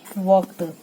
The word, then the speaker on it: walked: ही वॉक्ड, L silent रहता है इसलिए हम वॉक पढ़ेंगे WALKED, वॉक नहीं।